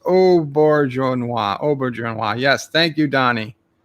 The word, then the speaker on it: Auberjonois: Pronounced Auberjonois.